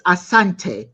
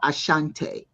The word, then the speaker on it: Asante: uh he says uh it's not asante it's asante not ashante the English could not pronounce the word properly so they put the